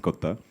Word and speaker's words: Kotha: for you guys to tell them it is King of Kotha and not the usual Hindi pronunciation. So it's in the film Kotha, in Malayalam it's Kotha.